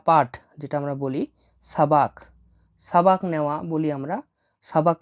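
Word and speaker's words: сабак: হচ্ছে class class বা পাঠ যেটা আমরা বলি সাবাক সাবাক নেওয়া বলি আমরা সাবাক নেওয়া মানে হল ক্লাস বা পাঠ নেওয়া সাবাক লিখে নিচ্ছি দেখুন এস এ বি এ কে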